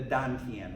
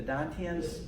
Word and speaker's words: Dantian: the gravitational center of your body, is the Dantian is called, like they spell it, or the transliteration T-A-N, T-I-E-N.